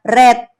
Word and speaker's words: read: dari reading ini tadi Apa iya red tulisannya sama Tapi bacanya red ya nih bread Hai nih